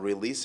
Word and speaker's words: release: release أو هنا release النطق السليم بتاعها release، ما نقولش release.